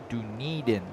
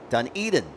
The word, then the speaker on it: Dunedin: Dunedin. So I had pronounced it incorrectly from the South Island of New Zealand. Dunedin.